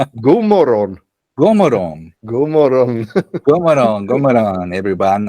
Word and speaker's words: God morgon: Hey, everyone, and Gomorong, right? Yeah, that's perfect pronounced. God morgon.